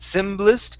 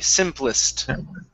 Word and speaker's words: simplest: p sound okay so instead of the simplest symbolist it's simp give me a p simplest okay nice job um